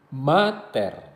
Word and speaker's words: mater: Pada kata-kata yang terdiri dari dua suku kata, penekanan diletakkan pada suku kata pertama. Misalnya, pater, mater, terra.